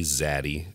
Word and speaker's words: Zaddy: I actually had a girl one day and she was like, hey, Zaddy. And I assume that's how you pronounce it. It's daddy with a Z.